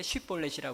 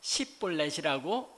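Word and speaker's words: 쉽볼렛: 당시에 에브라임 지파 사람들은 쉬음을 못 했습니다. SH 발음을 하지 못해서 SH 발음 벌렛이 이제 곡 그러니까 아 뭔가요? 옥수후 옥수후이 자료를 말하는 건데 또는 이제 강물을 가르킬 때 쉬볼렛이라 그럽니다. 그런데이 쉬빠음을 못 해서 십볼렛이라고 발음을 하는 것입니다.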